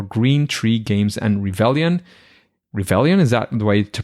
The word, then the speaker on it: Revelian: Revelian, is that the way to pronounce it?